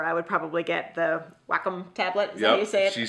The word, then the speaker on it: Wacom: she said it right the wacom tablet and by the way that is the correct way to say i know everybody bust my butt something about saying nikon wrong but i'm never going to change that mostly it's the nikon is it is the proper way to say it but uh when i was actually at the photo expo a couple years ago i talked to the guy and it's wacom wacom is the right way